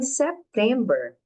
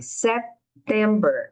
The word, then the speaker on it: September: In September, esse B é bem suave. September. A gente fecha a boca um pouquinho.